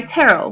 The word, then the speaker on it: Terell: but I go by Terell which is pronounced like Carol with a T I know it's spelled funny I know it doesn't look like Terell but it is um